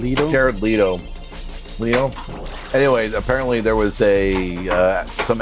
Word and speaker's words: Jared Leto: Yeah, in fact, Janet Leto, did I say his name right? Jared Leto.